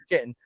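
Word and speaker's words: chitin: which is um chittin or kiten, however you pronounce it in the UK, we pronounce it chittin.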